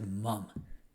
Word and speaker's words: ma'am: Like, so instead of sir, and you know, you have ma'am, it literally sounds like mum.